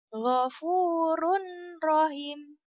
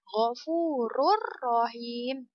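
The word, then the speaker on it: غَفُورٌ رَحِيمٌ: contoh ayat yang kedua mofurun Rohim vurun rohingya itu cara baca yang salah ya kita masukkan ke hukum idgham bilagunnah maka membacanya menjadi wuru Rohim tidak boleh berdengung tetapi seperti ini contohnya gofururohim itu keterangannya tanwin bertemu dengan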